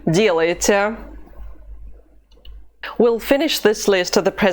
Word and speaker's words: делаете: The stress mark is over the first vowel, so we cannot say делаете or делаете. The only correct pronunciation of this form is делаете.